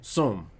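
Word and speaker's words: צום: hebrew is som it's about t-s-o-m and it's pronounced soom and it literally means to fast and to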